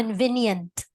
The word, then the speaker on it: convenient: what I heard from you is convenience, but convenience is a noun. But if you use it as an adjective, it should be convenient. So Okay. it's at the last syllable where you should have said nient, Okay. not niens.